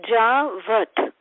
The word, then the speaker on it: Javat: Javat, the name Maharaj explained this place, Javat. It's 2 syllables.